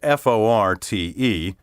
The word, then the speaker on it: forte: use the word spelled f-o-r-t-e to mean a strong point specialty something at which a person excels it should be pronounced in one syllable fort the english fort